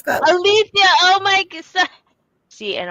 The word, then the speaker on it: Alethia: And this is Alia. Did I say it right? Althia. Yeah. Althia.